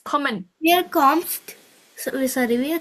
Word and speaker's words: kommen: we're comped. Almost. The ending is different. It's common.